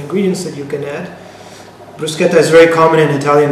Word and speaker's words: bruschetta: want to share it with you today it's brusketa and please not the pronunciation brusketa not Bretta like my friends and family back home tend